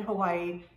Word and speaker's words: Hawaii: case you didn't know the w in hawaii is actually pronounced there as a v hawaii i think that's